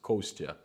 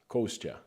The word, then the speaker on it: Kostya: you said kostya uh my name is but my short for is in russia is kostya in america people would never ever pronounce that but i figured a way how to actually make them say it really easy and quick and right it's gonna cost you kostya one thousand miles vision